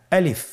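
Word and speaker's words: ألف: বলতে হবে বলুন আলিফ আলিফে কিন্তু কোন টান নেই আপনারা বুঝতে পারতেছেন আমি যখন আলিফ বলছি এর মধ্যে কোন টান হবে না আলিফ আবার বলুন আলিফ আলিফ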